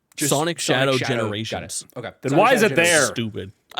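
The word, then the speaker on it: Sonic X Shadow Generations: Uh, I've been told you don't pronounce it. Sonic Shadow Generations.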